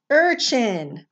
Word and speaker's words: urchin: r next to it it's called an r controlled vowel so it's not gonna say uh it's gonna say er urchin that's a sea urchin